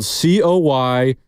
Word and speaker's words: Coy Cronk: Number one name on an NFL practice squad, Coy Cronk. That is spelled Coycronk. Kronk? Coy Cronk. Like Kronk from Emperor's New Groove?